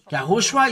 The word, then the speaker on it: YAHHOSHUA: YAHHOSHUA is his name, and this is the way to pronounce it.